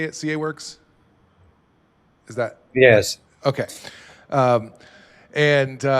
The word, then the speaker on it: CAWORKS: CAWORKS?